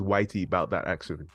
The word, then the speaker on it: ytboutthataction: just want to make sure that I'm actually pronouncing it right it is Whitey about that accident you're literally perfect you know I actually Wonder